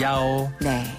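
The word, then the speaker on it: 幺: 숫자 치가 발음상 좀 비슷하게 들리거든요 그래서 오라고 발음해요 예 야오네 이을 야오 야라고 그러니까 110은 경찰이니까 야오야오 링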